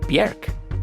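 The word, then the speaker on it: Björk: in the room here it's not pronounced Bjork it's bjerg so how do you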